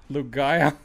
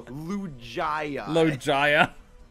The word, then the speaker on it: Lugia: really it hurts me lugaya no lugia it hurts me where did he get to get the h from like he knows he